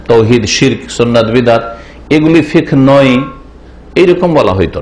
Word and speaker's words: ফিকহ: আলোচনা, তা হচ্ছে ইসলামী ফিকহ সম্পর্কে। এই ফিকহ শব্দটিকে আমার দেশের লোকেরা শুদ্ধ উচ্চারণ করে না, বাংলা থেকে ফেকা করে। ইসলামী ফেকা আসলে ফেকা না, ফিকহুন মানে জ্ঞান অর্জন করা।